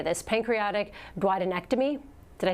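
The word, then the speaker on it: pancreaticoduodenectomy: It's I'm going to try to say this: pancreatic duodenectomy.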